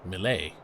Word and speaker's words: melee: Or as some people have heard say, melee. Never heard that pronounced that way until recently.